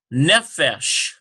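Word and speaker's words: נֶפֶשׁ: Nefesh. Now we got that Muna there, so yeah, it's going to definitely be on that.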